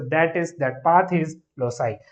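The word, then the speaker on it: loci: तो लोसाई हम प्रोनाउंस करते हैं इन the plural form, singular form में हम इसको लोकस बोलते हैं।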